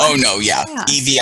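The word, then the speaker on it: Yvie: It's a drag queen called Evie Oddly. It's spelled Y-V-I-E Oddly.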